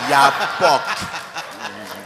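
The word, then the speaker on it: yapock: Excusez-moi, Yapok ou Kapok? Un Yapok. Nous connaissons la différence entre le K et le Ya.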